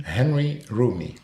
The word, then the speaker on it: Henri Roumi: um how do you say your full name Henry roomy okay and you are is because it's not